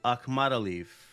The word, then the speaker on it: Akhmadaliev: Oh, speaking of fully out, Morojan let me pronounce this correctly, Akhmadaliev.